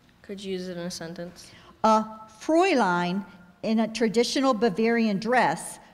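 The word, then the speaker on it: Fräulein: woman especially of Germany are there any alternate pronunciations there's Fraulein and for line could you repeat the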